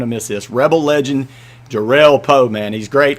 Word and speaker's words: Jerrell: Jerrell, get that straight. Get the emphasis on the right syllable.